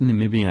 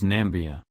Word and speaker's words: Namibia: the internet was quick to note Trump also mispronounced Namibia as nambia what Trump is congratulating the assembled African leaders